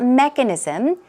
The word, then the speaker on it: mechanism: get bigger and bigger what about mechanism stress goes right there on this first syllable and some synonyms aren't